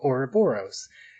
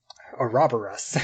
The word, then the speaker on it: Ouroboros: we were talking about orboros uh or um or robor us as they pronounce it uh the third